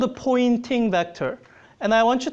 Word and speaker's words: Poynting: a spelled a weird it sounds like a pointing as if I'm pointing and it's confusing because the pointing vector it points in the direction of propagation direction but it's spelled with a why I think it's named